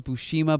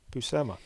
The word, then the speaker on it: Buscema: No, I thought it was Buscema, then I thought it was Bushima, but no, it's Buscema. Buscema. Buscema.